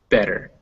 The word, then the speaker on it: better: bitter, butter, better, almost any word that ends with a T and then a T-E-R is going to sound like der.